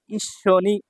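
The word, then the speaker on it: 一緒に: কি বা কি তারপর দেখেন ই এখানে সু ছোট আছে তাহলে পরের বর্ণটা দুইবার উচ্চারণ হবে সো টা তাহলে কি হলো ইস্য আর নি ইস্য নি একসাথে টুগেদার তারপর দেখেন এখানে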